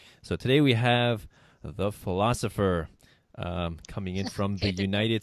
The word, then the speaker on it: Pholosopher: That's Pholosopher, the Philosopher, but of course pronounced the Philosopher.